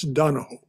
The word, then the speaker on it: Donohue: It's Donohue, but properly pronounced in Irish, it's Donohoe.